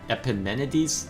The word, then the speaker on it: Epimenides: i wanted to kill epinemenides the epimenides i think is how you pronounce it not arvol yes unfortunately